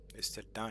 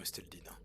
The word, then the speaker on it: Esteldin: C'est comme Esteldin. Estin et non Esteldine.